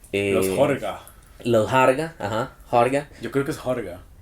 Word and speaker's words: Harga: los Harga, ajá, Harga, Yo creo que es Horga, se escribe Harga, pero se pronuncia Horga, creo.